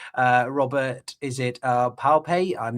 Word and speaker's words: Pape: Um I'm it makes me think of uh Professor uh Robert is it uh Pape? I'm not sure how to pronounce his surname. Pape, yeah.